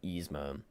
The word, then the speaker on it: Yzma: Yzma.